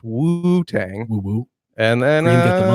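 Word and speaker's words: Wu-Tang: Pronounced like that. Shout Accent on the first. Wu Tang.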